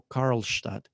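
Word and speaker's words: Karlstadt: misma universidad se llama Andrés carlstad o carlstad lo pronuncian en en alemán y también con él viene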